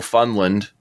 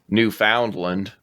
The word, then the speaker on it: Newfoundland: is now without Telecommunications how it hit no Funland or Newfoundland everybody outside of Canada mispronounces Newfoundland I really like this